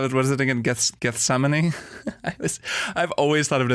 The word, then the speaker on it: Gethsemane: in the two that's I pronounced that one run guess the main is what I always call it guess the mini I got it Gethsemane is kind of how you're supposed to pronounce it um but they